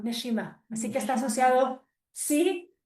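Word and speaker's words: נשימה: No, Neshima Nesima, Neshima.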